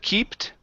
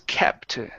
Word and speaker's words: kept: good um right here instead of keeped okay this word is kept okay short e sound this is neutral three